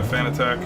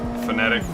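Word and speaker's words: Fanatec: So I'm running a belt drive wheel by Fanatic, or sorry, Fanatic. I always call it the wrong pronunciation.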